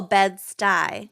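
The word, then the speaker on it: Bed-Stuy: stewie vescent and they're like what and it's pronounced stuyvesan but so bed stuyvesant bedford stuyvesant but it's oh bed stuy beds got eye yeah okay also smart ass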